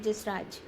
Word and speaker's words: Jasraj: So for many years, you studied with a very famous vocalist, Pandit Jasraj. Is that how you pronounce Yes, Pandit Jasraj.